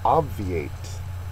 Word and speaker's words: obviate: task number 12 is obviate obviate this is one another one of the more difficult ones for this unit obviates a verb first syllable is accented and it means to